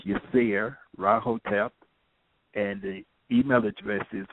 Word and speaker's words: Yirser Ra Hotep: email me at yes my name is pronounced yes rotap and the email address